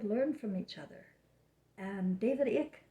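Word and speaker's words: Icke: from each other and david ich said or ike somebody told me that's how reminds rhymes with mike somebody told me david ike and david ike has a lot of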